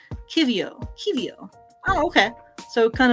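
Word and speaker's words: qiviut: pronounced oh here we go an explanation it's pronounced Kio Kio oh okay so kind of in the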